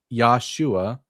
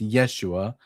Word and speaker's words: Yeshua: I believe the Judeian people tried to sacrifice Yoshua. It's actually pronounced Yeshua with a with an e, not an a to Yahweh, which just which stopped the end because Yeshua ran away.